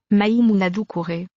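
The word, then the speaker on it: Maïmouna Doucouré: Interviews with the director, my Mona Docker, what? Okay, how do I pronounce this shit now? Maimuna Dukure. Oh. That's how you pronounce it.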